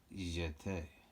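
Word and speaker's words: jeté: plie we shot a you say it like this you jet and we do many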